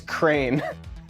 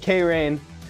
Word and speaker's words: Crane: Evan, it's pronounced as Crane. Oh, instead of K-Rain. I'm enunciating it too much.